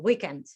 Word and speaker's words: weekend: results were and actually you used the stress on the first syllable weekend weekend did i say that